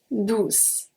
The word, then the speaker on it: douce: We have doux, and we have douce, douce. It's basically like heureux, heureuse. Just that this one is going to be a C and it's pronounced as a S.